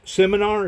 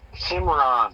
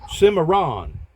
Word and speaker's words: Cimarron: where the guy made it up there in Seminar. Is that how you pronounce it? Cimarron. Cimarron.